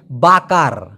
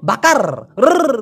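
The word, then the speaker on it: bakar: Malaysian ভাষায় বলা হয় বাকার এখন আমরা যে বাংলাদেশের যদি বলি আমরা কি বলবো বাকার করে একটা ঠেলা দেই এই র টাকে ওরা ওইভাবে উচ্চারণ না করে বলে বাঁকা বাঁকা বাঁকা বাঁকা মানে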